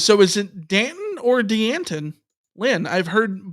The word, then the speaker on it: Danton: the UCLA pronunciation guy the UCLA pronunciation guy says Danton yeah d n t t hn Danton yeah Danton dant so picture the yogurt and just add a tea in the middle yep Danton Danton yeah